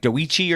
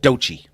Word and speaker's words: Doechii: You would think it was like Doechii or something, but it's just pronounced Doechii.